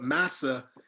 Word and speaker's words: massa: Two notes, I didn't want to interrupt before reading, but massa, people always think that that's a mispronounced English word, the English word master.